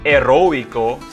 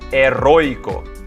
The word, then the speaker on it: heroico: soybrayan i'm brian herroico did you notice that silent h in spanish just because it's heroic in english doesn't make it heroico in spanish it's heroico next is